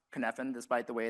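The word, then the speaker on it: Cynefin: It's pronounced kfphan despite the way it's spelled and has four different parts of the model.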